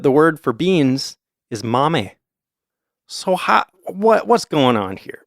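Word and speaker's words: 豆: But if you see the kanji for beans on its own, then it's pronounced mame, because in Japanese, kanji can have different pronunciations depending on the context.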